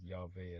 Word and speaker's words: Yahweh: Have Yahweh pronounced as Yahveh as well, right?